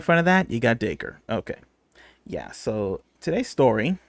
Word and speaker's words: Dacre: first name okay because we weren't sure if it was the cray Daiquiri like the uh like the drink yeah exactly but it is daker this makes sense because